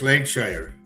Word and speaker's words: Lancashire: Lancasher Lancashire, right? They say Lancshire. Lancashire. No, just Lancshire. Langshshire. That's the way they pronounce it over there.